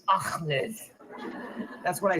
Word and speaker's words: Ahmed: So, uh, Akmed. No, no. Is Ahmed.